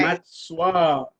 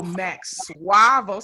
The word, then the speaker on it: Max Suavo: you Max Suavo all Yep, day. Matt Suavo. Bravo. Oh, Max Suavo. See, I knew I was Yeah, saying it wrong.